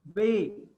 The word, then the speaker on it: be: The name of the letter B is Bay. Okay. And the name of the letter V, it is Bay.